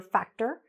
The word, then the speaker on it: factor: You know, there's some very popular show called Fear Factor. I hope you're saying factor and not factor, okay?